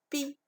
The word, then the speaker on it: pie: La pie. La pie. Donc, donc dans cette mot-là, où est la lettre muette? Donc, c'est E. On ne prononce pas E. Donc, E, c'est la lettre muette.